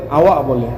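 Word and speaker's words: awak: ব্যবহার করা হয়েছে কিন্তু উচ্চারণ করার সময় আওয়াক বলে না আওয়া বলে কিন্তু লেখার সময় অবশ্যই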